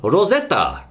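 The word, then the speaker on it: ロゼッタ: for example over there over there she's called Rosetta ah Ros Arena it really doesn't work does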